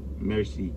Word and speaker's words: merci: Yeah. Merci. Not mercy. Merci?